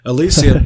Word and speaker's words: Elysium: Ring of Elysium, I keep saying it wrong, Elysium so amazing is that it's just PUBG again.